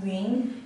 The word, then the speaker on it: 云: character is pronounced as Yun, Yun, and it basically means to say or the cloud.